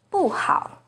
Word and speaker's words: 不好: For example, 不 is the second rising tone in 不要, but it's the fourth falling tone in 不好.